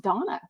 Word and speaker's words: Dana: Actually, I think her name is pronounced Donna, like Daily Dose of Donna, D-A-N-A. She is following me.